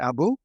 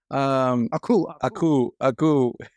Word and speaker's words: Aku: Every time I hear his voice, I always think of Abu from is it Abu? Samurai Jack? Oh, Am I saying it wrong? Aku. Abu is the monkey from Aladdin.